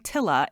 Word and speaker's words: tiller: It's done with something called a tiller, which is tiller in my accent, sounding more like tilla in the British pronunciation, one of the funny quirks of living in the UK as an American.